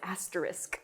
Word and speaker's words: asterisk: asterisk or what, I don't even know, it's asterisk. So, overpronunciation.